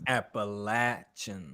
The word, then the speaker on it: Appalachian: states i'm like i think i spelled their name wrong when i was typing it on the sheet saying it wrong too it's appalachian yeah see appalachian state they don't play about